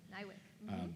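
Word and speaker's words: NIWC: A about this, but is, I'm going to pronounce this correctly, Nywick? Nywick.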